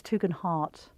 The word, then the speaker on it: Tugendhat: You know, it's Tugendhat.